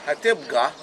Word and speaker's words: Tabgha: And in Arabic, they call it Tabgha because the Arabs cannot pronounce the letter P. They pronounce it B. Tabgha.